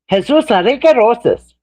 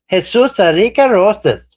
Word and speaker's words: Jesus Enrique Rosas: There's a Jesus Enrique Rosas. That's his name. He's a body language guy. Jesus Enrique Rosas. That's how he says his name.